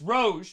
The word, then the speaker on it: Rouge: It's Rouge, not Rogue. It's French name for the color red, pronounced Rouge.